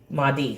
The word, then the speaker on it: Mahdi: How do you spell it? Mahhi. What is the Mahdi? Mahdi.